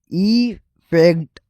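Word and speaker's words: effect: एफ ई सी टी ई फैक्ट Urdu sound से देखा जाए तो ई फैक्ट स्टार्टिंग वोवेल और स्ट्रेस फर्क है। फर्क स्टार्टिंग वोवेल और स्ट्रेस में है जो सुनते ही क्लियर लगता है।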